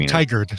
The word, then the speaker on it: Tigard: Tigard. Tigard is apparently how it's pronounced.